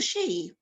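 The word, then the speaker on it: Sídhe: Here it's the She, pronounced like the word she.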